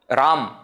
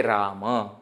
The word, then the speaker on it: Rama: is like that again in Hindi Etc they don't pronounce the last akara completely Ram isn't it Ganesh but in Sanskrit when we are talking we should say Rama Ganesha okay in other languages